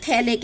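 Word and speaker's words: phthalic: सामान्य नाम तो है हमारा थैलिक एसिड, थैलिक है, पीएच साइलेंट है।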